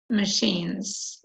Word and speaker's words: machines: They are huge machines, and this is pronounced machines, like she, the same sound. Sh.